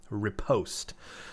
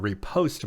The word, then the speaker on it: riposte: so I could listen to it it is repost so if you don't know what the word repost means here's a dictionary definition of it repost